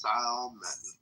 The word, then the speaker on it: salmon: And the first time I heard the L, I just about literally spit my coffee out because it's the dumbest thing I've ever heard.